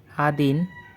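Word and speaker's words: один: বাট ওদের উচ্চারণগুলো ভিন্ন। তো আমাদের লিস্টের প্রথম নাম্বারটি ছিল নোল বা শূন্য। পরবর্তী নাম্বারটি হচ্ছে আদিন অথবা এক।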